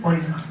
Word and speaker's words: Poisson: Poisson, the correct pronunciation is Poisson. S is silent. N is silent.